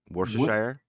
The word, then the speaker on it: Worcestershire: bradford toynbee from to this day i can't pronounce it worcestershire sire worcestershire yeah that's it yeah perfect and depending on